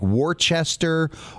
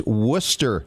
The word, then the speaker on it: Worcester: its its Worcester Massachusetts I know it looks like Worchester horses sure in all this time but it's Worcester Massachusetts Worcester yes absolutely and